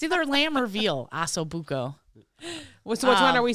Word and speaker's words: ossobuco: chops, oso bucho. Sausage. Is that how you say it? Ossobuco.